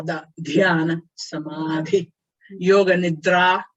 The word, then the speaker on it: nidra: In Sanskrit language, when in doubt how to pronounce D's and T's, always go dental. You go to dentist to have your teeth pulled out. How you talk when your teeth are pulled out? That is dental. Da, da, da, da.